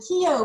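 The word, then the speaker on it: Keogh: It's actually KEO plan.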